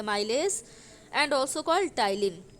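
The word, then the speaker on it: ptyalin: mileage and also called टाइलिन P silent होता है आपका टाइलिन होता है तो जब भी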